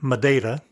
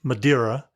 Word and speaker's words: Madeira: explanation here you'll notice I've been saying madaa instead of madira the usual pronunciation in English after all the years on the island I unconsciously use the Portuguese pronunciation I'll try to use